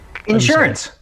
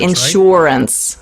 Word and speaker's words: insurance: okay i-n-s i-n-s-u-r-a-n-c-e insurance insurance so you can say insurance down here they call it insurance yeah in the south insurance the emphasis is on a different song syllable yeah so jim aren't